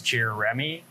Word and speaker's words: Jeremy: Jeremy is actually 3 syllables. Most people say it as 2 syllables, but it's Jeremy instead of Jeremy, which is what most people say.